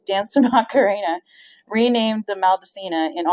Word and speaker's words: Maldacena: Some believe the M is for Maldacena, pronounced Maldacena, after the Harvard-based theorist Dr.